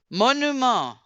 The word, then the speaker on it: monument: regardez la prononciation. Le, Le, Le les, monument. les les monuments. monument. Monument. Ah, On monument. Monument. ni le T Monument. ni le S final.